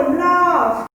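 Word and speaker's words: laugh: तुम नोटिस किए F sound हो रहा है, देखो feet, graph, flamingo, लाफ, alphabet, टॉफ सब F साउंड कर रहा है।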